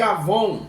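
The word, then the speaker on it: עוון: No hebraico, a palavra para iniquidade, ela é chamada de avom. Pode observar e pesquisar. Nada a ver com pessoas que usam produto Avon, mas a palavra pronúncia simplesmente é muito idêntico à palavra Avon, ou seja, o perfume Avon.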